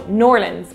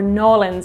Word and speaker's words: New Orleans: Sazerac video went up, I pronounced it New Orleans with my Irish accent, and I was politely, not so politely corrected in the comments. So Norlands or Nolans if you're trying to be even more authentic, but I